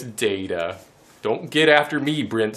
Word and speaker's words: Data: Could be like Lieutenant Commander Dato of the Starship Enterprise. No, I know it's data.